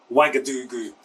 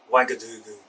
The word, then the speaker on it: Ouagadougou: Burkina Faso, although it's spelled with a, you might look at it and think, oh, Ouagadougou, but it's actually pronounced with a W, so Ouagadougou. Ouagadougou.